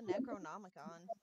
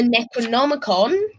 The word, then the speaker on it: Necronomicon: the coven gets the necronomic on um is that how you pronounce it yeah the ice it yes necro like necromancy in the nomagon see I was like